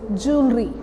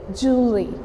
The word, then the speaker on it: jewellery: And the pronunciation of this word is jewelry. What is it? Jew. What is this? Jew. But people used to speak it jewelry. But this is actually jewelry.